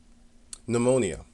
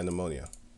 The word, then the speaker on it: pneumonia: I forgot how you pronounce it. Pneumonia. Yeah, pneumonia. These stupid people, man. They put the P there. It's just stupid.